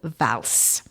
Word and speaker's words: Vals: an underground church called vals v-a-l-s-v-a-l-s yes and as it is occitan we pronounce the s at the end and there we are